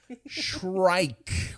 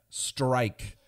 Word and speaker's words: shrike: episodes in a row shrike with an S and an H sh sh sh not strike uh like the Baltimore